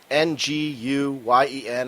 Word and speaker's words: Nguyen: It's Nguyen, and I know one of our listeners. Is it that what it is? Yeah, it's pronounced Win.